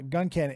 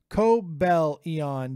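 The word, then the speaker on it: Cobalion: controller like that uh gun Canen it's pronounced Co Bellon Dave thank you illustrious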